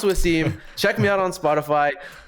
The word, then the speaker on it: Wvssim: It's pronounced Wvssim.